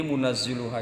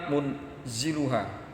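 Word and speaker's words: مُنَزِّلُهَا: Jadi munazziluha itu hidangannya banyak dan berulang-ulang, bukan munziluha.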